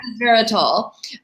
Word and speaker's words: resveratrol: So I think it's called resveratrol, which is, yeah, did I mispronounce it? What is it called? Yeah, that's right. Yeah, resveratrol.